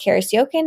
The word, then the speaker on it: Karis Jochen: i s j o c h n it's pronounced Caris yoken it just does not look that way awesome